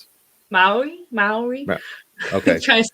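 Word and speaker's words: Māori: How do you pronounce it? Maori.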